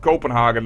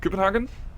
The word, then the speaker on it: Copenhagen: Because I know, for instance, it's not Copenhagen like most people do, it's like something like Copenhagen. Like, the E's are removed, so this is probably also not Ribe, but something like Rib.